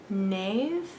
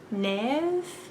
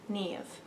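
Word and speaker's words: Niamh: is an irish name so it is spelled n-i-a-m-h and i believe it is pronounced nave nev we're going to watch a little youtube video right now so we can know if it'll load there we go okay now we know nev um and that is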